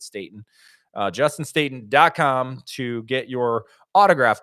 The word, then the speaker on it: Staten: It's like Staten Island, but we pronounce it Staten.